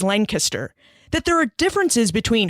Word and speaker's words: Lancaster: So when I arrived on campus, they taught me a lot about Pennsylvania culture, like the proper pronunciation of Lancaster is Lancaster, that there are differences between hogies and heroes and between cheese steaks and steak and cheese sandwiches.